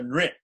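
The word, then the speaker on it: नृ: The R dot, R-I is pronounced ri, so nri.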